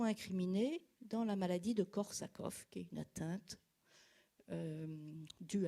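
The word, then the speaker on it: Korsakoff: j'en suis pas sûr c'est écrit soit avec un V soit avec un F soit avec de F en tous les cas ça se prononce corsakov en avant encore de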